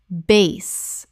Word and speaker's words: bass: Bass, rhymes with class. Bass, the musical term. Base, rhymes with face.